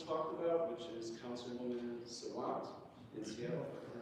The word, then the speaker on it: Sawant: about, which is Councilwoman Sawant in Seattle, if I pronounced it right. It was Sawant, I think. Right, and this has to do with... Did I pronounce it right? Yeah, you did, and I think there